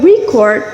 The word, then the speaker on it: record: But if we say record, it becomes a verb, like what I'm doing right now, recording a video. It's when we record a video is a verb. So the stress in pronunciation can completely change a word's role in a sentence.